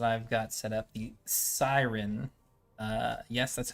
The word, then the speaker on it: Cyrin: custom race that i've got set up the siren uh yes that's how it's pronounced because i named it and that's how